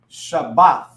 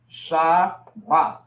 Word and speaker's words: Shabbat: So you have the Sha, but then you have the Ba and the Tha that come together.